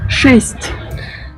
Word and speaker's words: Шесть: Шесть.